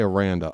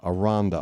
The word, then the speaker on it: Aranda: Aronda, I always say Aranda. Aronda. Aronda rhymes with Jane Fonda.